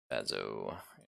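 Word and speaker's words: Bazso: Sorry, is Bazo? It's ZSO, right? Yes, even though the S is silent, but yes. Bazo.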